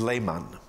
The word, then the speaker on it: Lehmann: My last name is Lehmann, spelled with two N's.